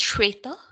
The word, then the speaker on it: Shweta: Am I mispronouncing it? Is it Shweta? It's Shweta. Shweta. You say it so much more nicely than I do. Shweta. So a long E.